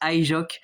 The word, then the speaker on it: HyJox: Oui, je sais que ça se prononce Ijok, mais je m'en fous.